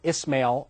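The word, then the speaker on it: إسماعيل: That's the Hebrew pronunciation, Ismail in Arabic.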